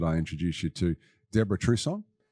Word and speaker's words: Trusson: introduce you to Deborah Trusson. Have I pronounced that correctly, Deborah? Is it French in origin? Yes, that's correct.